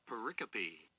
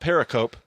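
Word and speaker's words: pericope: Paricopy. Paricopy. So, not paracoup apparently, but paricopy. All right. So, every little paricopy in the book of Job has some form of parallelism.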